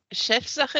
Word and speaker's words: Chefsache: So the German national final, which is pronounced Chefsache ESC 2025.